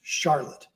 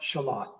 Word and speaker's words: Charlotte: a town and in North Carolina it'd be pronounced Charlotte. In Vermont it's pronounced Shalot.